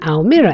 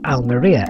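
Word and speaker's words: Almería: to be focusing on almira airport our al maria airport depending on your pronunciation the airport is located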